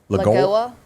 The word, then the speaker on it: Lagoa: And Barbara, how do you pronounce that? Lagoa. Lagoa? Lagoy or Lagoa.